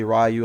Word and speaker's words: Ryu: get their hands on Ryu or rayu however you want to pronounce it I know a lot of Americans say rayu I think Ryu is more appropriate or the more proper way to say his name but again if you're